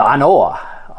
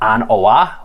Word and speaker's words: An Oa: a relatively new offering from our bag the anoa um and that is the correct way that it's pronounced it's not on oah how it seems but it's uh kind of